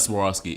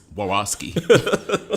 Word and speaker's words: Swarovski: It's not Swarovski. It's Swarovski. She missing the S. She dropped the S on the way in.